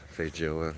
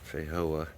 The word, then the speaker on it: feijoa: It's uh Portuguese. So you do pronounce that j. It's foa, not foa.